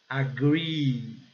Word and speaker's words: agree: Nesses casos aqui, ó, quando ele vem em dupla, double E, então a pronúncia, ele é pronunciado e com o som de I prolongado e bem forte. Agree.